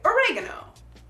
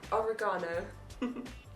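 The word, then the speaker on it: oregano: It looks the same, but I say "oh-RAY-ghin-oh." -And I say "oh-ray-GAH-no." She puts a different emphasis on a different syllable.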